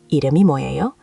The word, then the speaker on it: 이름이 뭐예요: Pronounced 이름이 뭐예요?